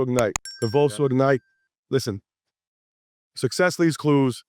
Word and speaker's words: Convoso: Convoso Ignite. Convoso Ignite.